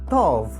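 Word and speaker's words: טוב: Well, since we know how to read and pronounce all our letters, we will try to read our word. Tov.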